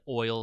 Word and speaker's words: Eul: Today we're going to talk about Yule's Scepter of Divinity. Sometimes I pronounce it Oil Scepter.